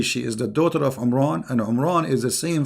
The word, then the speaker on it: Imran: of mooses an errand because his name is Imran so the last letter is M not in so the foolish Mohammed he thought that Mary she is the daughter of imran and imran is the